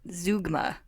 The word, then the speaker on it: zeugma: What's the difference between Zegma and solipsis? But I'll save that. Oh, here we go. Later. How to pronounce it? Zeugma. What? That's even better.